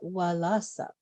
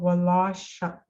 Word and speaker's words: walasak: That last syllable is just like sucking on your straw. Walasak. Oh, walashak. Suck. Just regular S.